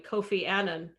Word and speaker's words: Annan: ball though i mean kofi annan which is by the way how he pronounced his last name um he dropped the